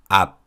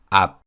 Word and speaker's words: 앞: When these consonants are used as batchim, they're pronounced as unreleased 비읍 sounds.